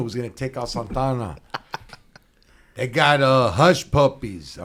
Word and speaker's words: Santa Ana: Not Hey, Santa Ana. Santana. Say it right.